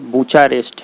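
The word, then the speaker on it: Bucharest: और रोमानिया का कैपिटल जो है ये ब्रूचेस, मैं यहाँ लिख दे रहा हूँ, इसका प्रोनाउंसिएशन थोड़ा गड़बड़ है, BUCHRA बुचारेस्ट है, REST बुचारेस्ट।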